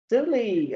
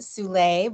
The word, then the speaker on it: Zuli: Zuli, are you there? Yes, I'm here. It's actually pronounced Sule, but it's so great meeting you, Dora.